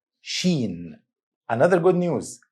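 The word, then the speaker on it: شين: Sheen. Sheen. Another good news, this letter has English counterpart, which is SH. Same sound for SH in the English word ship.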